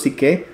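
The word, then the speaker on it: ψυχή: Algunas personas lo pronuncian psuque, otros psique o suge.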